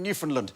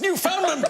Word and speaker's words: Newfoundland: I think he said, oh, I did that murder in Newfoundland. No, it's Newfoundland! But actually, both men were right, because at the time, both pronunciations were perfectly acceptable.